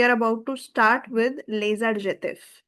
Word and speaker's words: les adjectifs: Today we are about to start with les adjectifs. Again, there is a liaison. Les adjectifs.